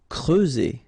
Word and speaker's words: creuser: Creuser. Okay, so C and R together, cre, and then E and U, creuser. Okay, that's it for this part.